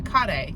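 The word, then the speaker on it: カレー: And Piero, and so kare is curry.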